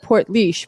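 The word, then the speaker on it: Portlaoise: they grow up in is pronounced port leash but isn't spelled like that and then we had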